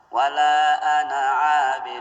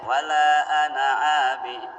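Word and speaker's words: ولا أنا عابد: Wala ana abid, bukan wala ana. Makanya lihat baca apa adanya sudah, jangan dirubah-rubah baru. Pada saat tersalib. Iya. Iya. Diamati. Bukan ya. Jadi itu tanda pendek. Wala ana abid ya.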